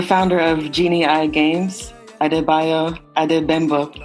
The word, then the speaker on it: Adegbembo: And today I'm joined by a special guest, the founder of Genii Games, Adebayo Adebembo. Correct? Did I say it correctly, sir? That's fine. Adebayo Adegbembo. That's Adegbembo, okay.